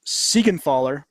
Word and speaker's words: Siegenthaler: also traded with the Caps for defenseman Jonas Siegenthaler. Did I do well? Woo! Yeah, you good said it right. Siegenthaler.